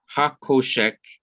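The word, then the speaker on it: חושך: mo sheik all right so koshek is the pronunciation and it means the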